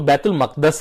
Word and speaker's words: بیت المقدس: لیکن اصل میں اس کا جو تلفظ ہے وہ بیت المقدس ہے، یعنی مقدس لوگوں کے تقدس کی جگہ. بیت المقدس تقدس کی جگہ. تو یہ اس کا صحیح تلفظ بیت المقدس ہے، لیکن بیت المقدس بھی کسی حد تک تسلیم کر لیا جاتا ہے، لیکن بیت المقدس بالکل نہیں ہے.